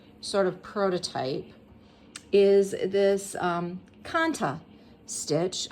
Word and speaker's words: kantha: Now, to begin stitching, what I am going to use as my stitch sort of prototype is this kantha stitch. You may also have heard it pronounced kantha.